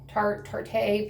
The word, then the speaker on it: Tarte: is a Tarte, T-A-R-T-E, Tarte. People pronounce it different ways. I think it's Tarte.